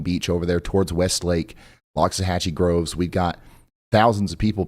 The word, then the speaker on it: Loxahatchee Groves: It's Loxahatchee Groves, Ryan.